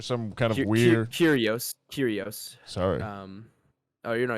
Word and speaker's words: Kyrgios: kind of weird curios curios sorry um oh you know you're good it's like curious but silent g i guess like but wasn't it